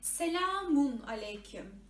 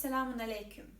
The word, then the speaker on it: Selamun Aleyküm: You may hard times to pronounce this ü sound. And you pronounce it like Selamun Aleyküm. Selamun Aleyküm. Okay? The correct version is Selamun Aleyküm.